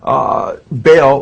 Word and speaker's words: Baal: It's a combination of Jehovah, Baal, and Osiris.